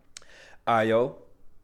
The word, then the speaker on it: Ayo: Ayo is how you pronounce the black girl on the bear.